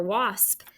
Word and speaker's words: wasp: w if you hear an ah sound like in water or wash what vowel is it hopefully you remembered for wasp it's w-a-s-p and to mark it you can scoop it it's a closed syllable and i know it's been a while but we did the one eye monster above that ah sounds like an ah and there is a